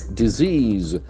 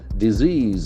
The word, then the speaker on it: disease: the pronunciation is tricky disease disease disease once again disease the accent falls from the second syllable disease medicines food food